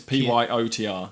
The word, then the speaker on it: Piotr: It's Pyotr. I know that's how it's pronounced because there's one at work.